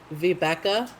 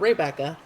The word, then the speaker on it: Vibeke: His mother, Vibeke, not Rebecca.